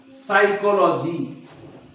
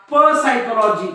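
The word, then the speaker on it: psychology: पी येतो लक्षात घ्या एस च्या अगोदर जेव्हा पी येतो तेव्हा तो पी सायलेंट असतो किंवा त्याचा उच्चार करत नाही म्हणून बघा तुम्ही असं म्हणतात का प सायकॉलॉजी नाही सायकॉलॉजी बघा हा पी सायलेंट आहे सायकॉलॉजी सायकोथेरपी तुम्ही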